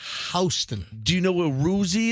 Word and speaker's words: Houston: houston that's correct and you don't say houston it's it's spelled like houston but it's houston do you know where